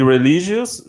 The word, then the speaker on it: religious: Don't put the I in there. I know you guys like the Latins really like that I sound, but. Yeah. Religious. You put the first I, but not the second I.